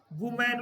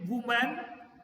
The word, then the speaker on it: women: Plural में आया ई, तो इसके प्रोनाउंसिएशन में उसमें होता है सिंगुलर में वुमेन और प्लूरल में वीमन, इसका प्लूरल होगा वीमन सर्वेंट्स।